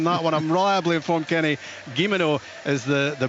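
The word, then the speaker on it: Guillemenot: of letters in that one I'm reliably informed Kenny gimino is the the pronunciation he's alongside Chris Bia those the strikers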